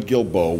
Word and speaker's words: Guilbeau: please welcome sportswriter Glenn Guilbeau with get it right today network a USA Today network is the right way to say it but we appreciate you being